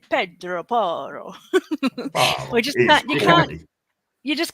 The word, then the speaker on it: Pedro Porro: And same with Pedro Porro, we have to say Pedro Porro. We just can't. You just can't say his name just normally. It's Italian. That's like an Italian name, Pedro Porro. It's not Portuguese.